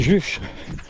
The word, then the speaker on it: Juch: Ça s'écrit Juche, mais ça se dit Juc.